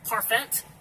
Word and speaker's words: parfait: This word right here, parfait. Now they're putting a silent T at the end of a word for I don't know why. Somehow I'm supposed to remember this stuff.